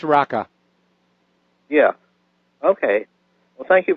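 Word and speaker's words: Raqqa: rattler or a qqa I don't know if that's the right pronunciation it's pronounced raka yeah okay well thank you for taking my call mr.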